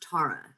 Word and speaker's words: Tara: i have to correct you her name is pronounced tara that's that's a big thing davis my bad